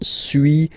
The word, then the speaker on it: suis: Okay, so first one, suis, as you've been noticing, you don't pronounce the final S.